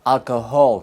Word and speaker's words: alcohol: Ten cuidado, learners sometimes want to sneak in an H sound. Alcohol, no, alcohol. Almohada, no, almohada. La H después de C suena cha, che, chi.